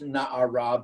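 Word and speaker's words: נערה: but that she as when it's written as na'ar, pronounced na'ara, but without the hey at the end, it means she's an incomplete na'ara.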